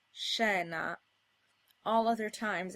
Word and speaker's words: scena: Before an I or an E, this combination is pronounced sh, as in scena.